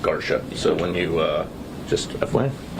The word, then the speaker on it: Garcia: And just confirming it's everyone it's spelled Garcia but pronounced Garsha.